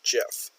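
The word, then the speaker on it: Geoff: here Jeff Parker that GE o FF is pronounced like is just pronounced Jeff like another way to spell that would be je FF that's also pronounced Jeff Jeff Parker persuaded convinced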